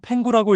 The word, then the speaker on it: PENGU: 먼저 이름부터 토큰명은 PNG 한국어로 팽구라고 읽어요.